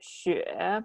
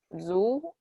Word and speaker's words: Xue: call me because when you spell it like Xue, if you don't speak Chinese, you will say something like Zu, and that sounds like foot in Chinese, and it's not very pleasant.